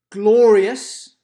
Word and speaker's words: glorious: stress the have and glorious glorious glorious stresses the first syllable we don't say will